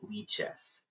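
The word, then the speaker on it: Lichess: It's it's you don't say it lies. It's lies. I need to remember in all my streams to say lie chess.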